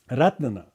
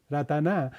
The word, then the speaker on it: Ratna: The Ratna in Pali, in Thai they call Ratana. Thai is very cute, Ratana. Thai really pronounce the vowels very clearly. Ratna. In Sanskrit it's Ratna. In the Pali, Thai version of the word Ratana is Ratana.